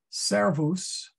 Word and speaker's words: servus: Servus. Well, we only have two vowels, so you got to put the accent on the ser.